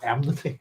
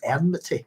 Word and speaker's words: enmity: they call them i' I've said enity in my entire life and I was looking at one is it it's enmity isn't it because it's from animy it's just a personal problem there in pronunciation I thought it was